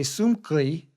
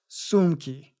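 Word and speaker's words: сумки: We want to say sumkli. It's kind of hard to say when you say it wrong, but remember, we can never follow k, so it's sumki.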